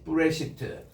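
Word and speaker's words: בראשית: 다시 브레시트. 자, 우리 그 복서관에서 우리 따라합니다. 베이스, 레시, 알레프, 신, 요드, 타우. 그래서 브레시트라고 읽습니다.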